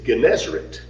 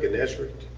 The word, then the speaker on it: Gennesaret: Another name is Gennesaret. Let me spell that for you.